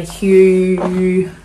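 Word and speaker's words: Huw: I bought a really good book by Hugh Richards. He has a really good YouTube channel called Hugh's Garden. It's spelled H-U-W, the Welsh way.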